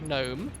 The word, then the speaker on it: gnome: Why is there a G in front of gnome?